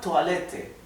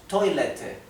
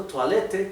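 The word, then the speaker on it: Toilette: francesa por lo tanto toalete que es la palabra que se usa para baño se pronuncia en francés porque es una palabra de origen francés bien d viene del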